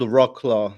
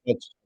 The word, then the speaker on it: Wrocław: heard a lot of good things about it's spelled Rocklaw, I guess, in English. In Polish, Rocklaw. it's Wrocław.